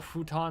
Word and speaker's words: futon: specific reason because i've if i've got my my f sound down correctly that's how it's pronounced in japanese not foo but on